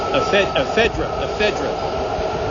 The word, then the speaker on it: Ephedra: I believe it's the actual name is epidaria. I always get that name wrong. Ephedra with an E.